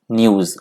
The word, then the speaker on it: nous: गया था न्यूज, NOUS, न्यूज। Pronunciation में थोड़ा सा ध्यान रखिएगा, न्यूज है ये।